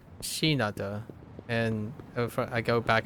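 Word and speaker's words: Shinada: correct syllables in names I keep calling him shanata but uh it's shinata and if I go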